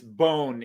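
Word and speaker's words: Bonn: most people call that bond but it's it's bone in german it's bone because the o is a long o bone so bona um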